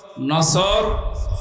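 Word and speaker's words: نصر: নাসর মানে ইগল পাখি এজন্য তেলাওয়াত যখন করবেন উচ্চারণটা মুখ গোল করা লাগে আল্লাহ পাক জানিয়েছেন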